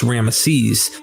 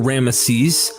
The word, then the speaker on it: Ramesses: Looking at times like Ahmose, Tutmos, and Ramnos, which is related to the famous Ramesses, one sees the root term Mose.